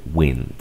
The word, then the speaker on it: wind: behind brand rain man está en la excepción de esta regla que te acabo de este patrón es esta viento se dice wind ok ahí te dejo